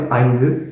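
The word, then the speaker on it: ஐந்து: So then the last one is eindu, eindu. Interesting pronunciation compared to the previous ones, and also interesting letter right here.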